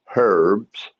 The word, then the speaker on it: herbs: And people go, "Oh, herbs." And I go, "No, no, no, no. this is spelled with an H.